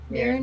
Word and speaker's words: Mirren: It is the shrine of Mirren. Am I saying it right? Yep. Mirren yeah.